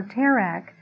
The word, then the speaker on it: Terah: Joshua 24 2 tells us that his father Terah or tarik has it's pronounced in Hebrew the father of Avraham served